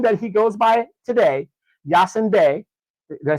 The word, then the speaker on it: Yasiin Bey: on the name that he goes by today Yasin B did I say that right yeah you say it right Yasin B I would automatically assume this man is of